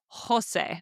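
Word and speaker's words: José: And we now know that every time we see the letter J in Spanish, we pronounce it like the H in English. You say Jose.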